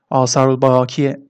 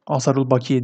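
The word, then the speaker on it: Âsâr-ı Bâkiye: arkadaşlar önemlidir Biruni de asarı Bakiye Eee adlı eseri önemlidir böyle uzatıyorum arkadaşlar uzatılmış şekliyle Doğrudur e asaru bakiye diye okunmaz e bakiye diye okunuyor takılanların olursa arada cebrin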